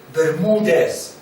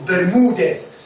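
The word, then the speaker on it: Bermúdez: Bermudez, 2014. Spanish has an accent on you, so the vowel and the syllable is accentuated. So Bermudez, 2014.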